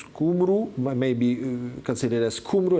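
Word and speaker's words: Cymru: people is s uh which is spelled through y letter so that would be kumu may be considered as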